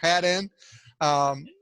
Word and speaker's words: Hadden: Hadden, it's like had, just like it's spelled, Chuck. Come on, Hadden.